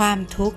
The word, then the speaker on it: ทุกข์: คะ ความ ทุกข์ ความ ทุกข์ นะ คะ จะ อ่าน ออก เสียง นะ คะ ความ ทุกข์ เวลา อ่าน ออก เสียง ขอ ไข่ การัน จะ ไม่ เอา มา ออก เสียง ด้วย นะ คะ คำ ต่อ